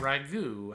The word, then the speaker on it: ragout: Rapport, bouquet, parfait, and ragout have a silent T in them.